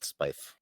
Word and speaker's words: Spiife: sounding and i guess that's why it rhymes with knife but i went with spyf oh well yeah nobody